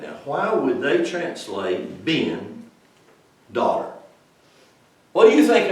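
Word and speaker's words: בן: And it's pronounced B-E-N. Ben.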